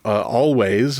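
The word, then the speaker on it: Alvvays: that they did, the Always, I'm just going to pronounce it with a W, always popped up on a recommended list for me.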